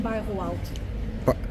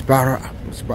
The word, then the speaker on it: Bairro Alto: Right now we're still in Bairro Alto.